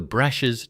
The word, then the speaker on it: Brash: The pronunciation of the A is anglicized from the Prussian to the Australian, from brushes to brashs.